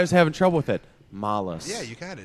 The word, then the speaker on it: Malas: You pronounce it. You're I'm so Alex from Malas. Malas.